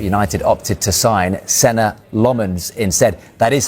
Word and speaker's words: Lammens: the window, but United opted to sign center Lmens instead.